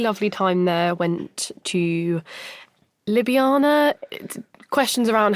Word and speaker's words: Ljubljana: Went to Ljubljana. Questions around how that is actually pronounced, but we'll go with that.